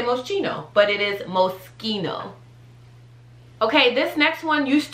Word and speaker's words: Moschino: remember that okay so i used to say moschino that's also a no-no that's not how you say that it's moschino moschino that one's pretty